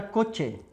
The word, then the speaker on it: coche: Peguei a palavra coche. Ó, o E fechado, ó. Coche.